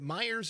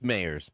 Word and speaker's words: Mayers: Jeff, is it Myers or Mayers? I have to ask. It's Mayers. It's Mayers.